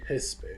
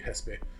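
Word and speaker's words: Xesspe: cannot correct you uh it might be hespe because it's x-e-s-s-p-e and mexico is pronounced mexico so probably hespe that makes sense anyway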